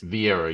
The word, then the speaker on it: Vieira: Vieira, you got it, brother.